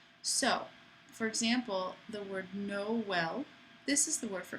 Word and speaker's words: Noël: What it means is that you need to pronounce two vowels separately. So, for example, the word Noël, this is the word for Christmas in French,